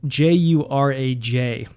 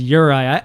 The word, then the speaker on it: Juraj: Now, Urai, uh, his name, by the way, is spelled J U R A J. So, if they did not pronounce his name when he was introduced, I would have been saying Juraj like the uncultured swine that I am, but no, his name is Urai.